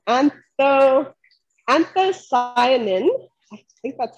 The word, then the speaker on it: anthocyanin: contain antioxidants uh specifically one that's called antho anthocyanin i think that's how you pronounce it and that anthocyanin is responsible for